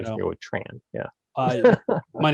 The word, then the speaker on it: Tran: Yeah, I usually say Tran, like Tran, rhymes with okay.